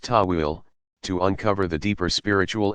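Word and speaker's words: ta'wil: allegorical or symbolic interpretations called towel pronounced Tawil to uncover the deeper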